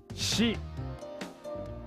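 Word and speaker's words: 死: The kanji for death, shi.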